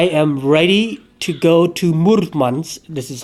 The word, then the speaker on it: Murmansk: And so now I am ready to go to Murmansk. This is how you pronounce it, apparently.